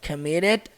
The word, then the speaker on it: committed: But committed no crime. E outra coisa, esse committed, né? Fica com um sonzinho de R, olha só.